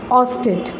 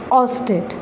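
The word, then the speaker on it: oersted: Magnetic intensity, ऑस्टेट. ऑस्टेट. आर is silent air.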